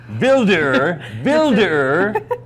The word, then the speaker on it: Wilderer: How do I pronounce this again? Wilderer.